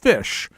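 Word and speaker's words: ghoti: know telling people that the word GH o TI is pronounced fish there you go because it's the GH from enough and the O from women and the ti from National um so that's the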